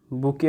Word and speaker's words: bouquet: की पूछता है, और ए बुके of flowers, बुके of flowers. इसका स्पेलिंग भी आपको देखना है।